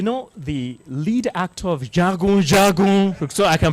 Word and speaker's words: Jagun Jagun: Let us teach him how it is pronounced. Oh. Jagun Jagun. Say it again. Jagun Jagun.